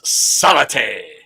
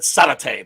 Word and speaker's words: Savate: So it's Savat or is it Savate? Savate. Savat. Okay. Mm-hmm. All right. Because I always said Savate, but I guess the E at the end is silent.